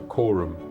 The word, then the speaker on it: Corum: He was given this watch, which was a limited edition Corum watch, or Corum, I think it's pronounced, watch.